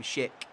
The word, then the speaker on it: Schick: That sounds like I'm saying such a bad word when I say his name, Schick. It's Schick.